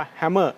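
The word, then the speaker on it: Hamer: เป็น เรียก ว่า ของ harmer นะ ครับ ออก เสียง ว่า แฮมเมอร์ นะ ครับ รุ่น Warrior ก็ จะ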